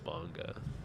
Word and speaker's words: manga: just want to say the way I pronunciated that was terrible is that manga it's manga I have it doesn't even